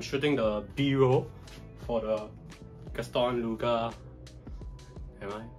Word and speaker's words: Gaston Luga: So I'm shooting the B-roll for the Gaston Luga. Am I pronouncing it correctly?